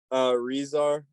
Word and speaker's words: Rezar: And then I want to ask, Razar, is that how you pronounce the name? Rezar, like a Z.